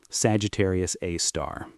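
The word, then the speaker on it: Sagittarius A*: They called it Sagittarius A star, pronounced Sagittarius A star.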